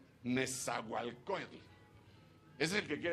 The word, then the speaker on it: Nezahualcóyotl: Dígame un lugar que cómo me cuesta pronunciar de aquí, porque lo ponen en lengua original. Nes. Tex. Tex. Caltic. Nezahualcóyotl. Nezahualcóyotl.